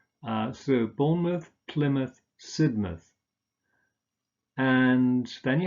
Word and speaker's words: Bournemouth: Again, you just pronounce a schwa here, an sound, rather than mouth. So Bournemouth, Plymouth, Sidmouth.